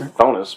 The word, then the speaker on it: Chthonus: Which I'm calling it Chthonus because it kind of looks like Cthulhu. It's weirdly... That's my take on it. It's spelled with CTH. Got it. Or the C silent, and it's just Chthonus, but I mean, sure.